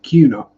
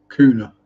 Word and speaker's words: Kuna: No, not pronounced Kuna. No, fair enough. Pronounced with a Q. So Kuna. So pronounced like a posh English person would say it. Oh, it's Kuna. Like Cunard ocean liners. Yeah. Or tuna.